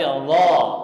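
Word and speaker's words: الله: Jadi mulut kita ini nggak ada perubahan sama sekali, nggak Allah atau Allah, tapi Allah.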